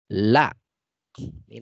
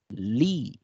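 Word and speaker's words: لي: La. Ini la ini asalnya li ini asalnya la ya. La bersambung dengan ya, maka kita membacanya li, bukan lai ya, tapi li.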